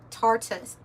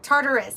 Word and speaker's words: Tartarus: Uriel, one of the holy angels who is over the world and over Tartarus. I always want to say Tartar. Well, I don't know. I'm saying it wrong. Tartarus, I'm sorry.